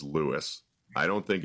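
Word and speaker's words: Lewes: think the correct pronunciation, the local pronunciation is Lewis. I don't think it's LSE like I used to think it is. I think it's Lewis.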